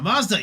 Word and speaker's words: Mazda: character from uh from um Ninja Gaiden the Mazda yes love the duts D is pretty cool